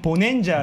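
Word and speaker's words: bonanza: 근데 이게 발음을 눌러보면 보낸자 이러거든요.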